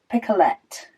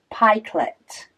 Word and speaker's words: pikelet: She said she had to have a little giggle at my pronunciation of, it's picolette, which is pronounced pikelet. Okay, in Oz.